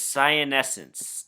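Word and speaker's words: cyanescens: to investigate this variety you pronounce this sian essence they're often called science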